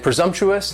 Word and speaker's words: presumptuous: And presumptuous has 4 syllables, and the stress is on that second syllable. And the S almost sounds a little more like a Z, presumptuous, presumptuous.